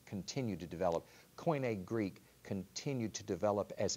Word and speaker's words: Koine: Koine, yes. Okay. How do you spell that?